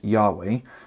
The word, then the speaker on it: Yahweh: God's boda Havel hey most scholars believe that God's name was originally pronounced Yahweh for the last couple